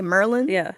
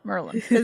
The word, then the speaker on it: Maryland: Cuz I say like if you're from if you hear someone say Merlin, they're from Baltimore. Merlin.